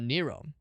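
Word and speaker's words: Nio: Let's raid uh Nero. Not the Greek emperor or Roman. Roman Emperor. Not the Roman Emperor Nero. Uh, this one is pronounced similar but spelled differently. This is Nero.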